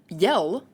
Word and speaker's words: iel: i e l uh it's pronounced yell like to yell at somebody and what in the